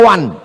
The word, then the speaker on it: one: Tulisan enggak sesuai dengan bacaan one dibaca wan.